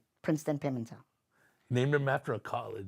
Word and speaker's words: Pimentel: Pimentel.